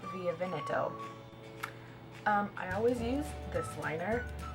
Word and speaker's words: Via Veneto: Okay, I'm going to pronounce it right because I learned how to pronounce it in Italian. Via Veneto. It's not Via Veneto, it's Via Veneto.